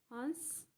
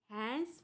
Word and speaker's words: हंस: हैंस पड़ी नहीं कहते हैं हम। उच्चारण कैसा है? हंस पड़ी, लेकिन लिखते समय ऐसा लिखते हैं।